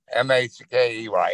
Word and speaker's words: Mackey: M-A-C-K-E-Y. Yep. We pronounce it Mackey where I'm at.